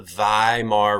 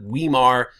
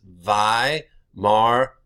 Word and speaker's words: Weimar: they are called the Vai mar republic this is not Weimar in German this gets pronounced like a V and when you ever